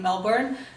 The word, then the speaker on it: Melbourne: Australia but I'm in Melbourne Melbourne is how they want me to say it but I'm American we pronounce the R so sorry so I'm